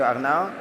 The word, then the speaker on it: Arnau: So very good pronunciation. My name is Arno.